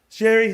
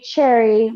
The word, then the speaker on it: Cherie: My name has been pronounced Cherry, but Cherie.